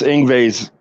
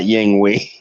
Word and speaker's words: Yngwie: were trying to pronounce Ingve's name, and they were like, "What the hell is like?" It's like Yingwei. I said, "No, it's not. It's not. It's not Yingwei. It's Ingve." Yin They're like, yang, "Yeah,